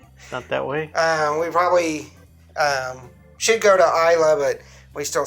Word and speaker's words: Islay: Islay. Yeah. So there's a bunch of evolution of that too. We said Islay when the beginning.